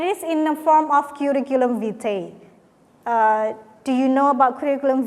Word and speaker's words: curriculum vitae: Nah, and today we are going to talk about describing yourself, but it is in the form of curriculum vitae.